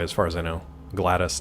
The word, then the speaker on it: GLaDOS: Oh, Gladys, I think it's GLA, and then capital DOS, like DOS.